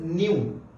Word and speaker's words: nu: हुण इसका सिंबल की हुंदा बच्चे, इसनूं आपां डिनोट करते हैं bye, this is pronounced as न्यू, NU।